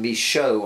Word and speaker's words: Michaux: how to spell names and that Americans can pronounce mich aux me show I'm going to call them in anyway what